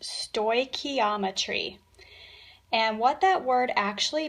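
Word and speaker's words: stoichiometry: top it's kind of a big word it's pronounced sto ometry and what that word actually means is it's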